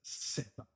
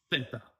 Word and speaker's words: zeta: Canary Islands, and Andalusia will pronounce this like with an S sound, right? So the zeta. I learned my Spanish in Mexico, so we'll say it as zeta.